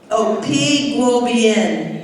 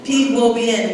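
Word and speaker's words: Pi Gwo Byen: P Guo Bien. Oh yeah, P Guo Bien, which is the greater good in Creole. So that's what we call our school, L'école P Guo Bien.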